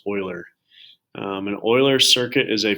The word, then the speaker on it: Euler: circuits it's spelled kind of funny but it's pronounced euler an euler circuit is a path around a